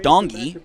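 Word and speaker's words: Ndongi: and doggy number four dongi so you don't pronounce the N at the beginning of that name uh SO waiting as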